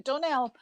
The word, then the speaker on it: Dunelm: Okay, but you don't pronounce the M or what? Doesn't sound like you pronounce the M. Yeah, Dunelm. Oh, you do say it.